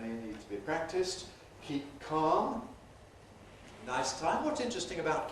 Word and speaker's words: keep calm: So we say keep calm. Keep. You can't hear really. We don't say keep calm. We can do, but it's special careful pronunciation. Normally, keep calm.